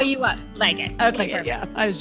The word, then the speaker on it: Legat: I'm with Legat, and did I say it right? It's Legat.